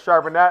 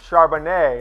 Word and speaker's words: Charbonnet: It's Charbonnet. I've double, triple confirmed Charbonnet, like a fine French wine. It is pronounced a soft T at the end there, E-T.